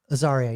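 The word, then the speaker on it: Azaria: Uh I believe this is Hank Aaria. Yeah, Aaria.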